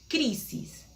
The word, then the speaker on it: crisis: Por ejemplo, crisis, acento en la primera sílaba, crisis.